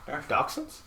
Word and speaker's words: dachshund: apples plain and simple dachshunds yes it's a valid pronunciation I'm not saying it's